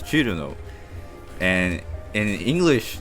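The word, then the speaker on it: Chrono: It's like, you just take like a really common, popular character like Cerno. That's not how it's pronounced in Japanese. It's not really even written like that in Japanese. In Japanese, it's Churuno, and in English, it's like written like it's some weird, Italian thing.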